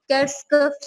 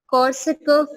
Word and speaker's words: Korsakoff: एक आपकी डिजीज है, उसका नाम है कर्स्कफ सिंड्रोम। ठीक है, कर्स्कफ सिंड्रोम, इसकी स्पेलिंग है KORSAKOFF, कॉर्सकफ सिंड्रोम।